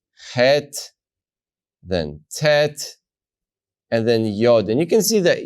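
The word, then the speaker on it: יוד: Tet yard yard and the letter yod is pronounced as a yeah yeah sometimes spelled with a Y if you go to the German language you will see it as spelled with the J and that that uh slips over into English as well but the sound it makes is yeah now this is one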